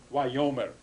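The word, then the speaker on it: וַיֹּאמֶר: in the Old Testament, it's this form wayomer, wayomer, the accent on the first syllable.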